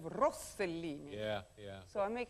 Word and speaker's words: Rossellini: I say Isabella Rosellini instead of Rossellini.